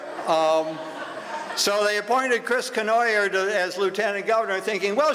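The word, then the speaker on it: Cournoyer: the Republican uh Chris Canoyer, you you that's the way you pronounce it rhymes with annoyer.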